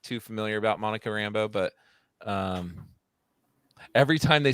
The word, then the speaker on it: Rambeau: It's spelled completely different, but when you say it, it sounds the same.